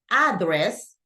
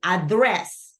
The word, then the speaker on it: address: know that for example instead of saying address I say address because I know that the the stress syllable go in the second syllable okay so let's check